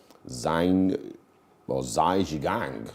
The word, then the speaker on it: Zhai Zhigang: And then on this day, Zhai Zhigang, as it's pronounced, eventually was the first Chinese to walk on space.